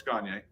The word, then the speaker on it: Gagne: no, it's Gagne. Oh, Gagne. Okay. That's why I asked. All right. Cool. If you can't pronounce it that way, think of Kanye, but Gagne.